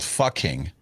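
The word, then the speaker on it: Pho King: the place is called Fucking. Yeah. P-H-O King, and it's pronounced fucking.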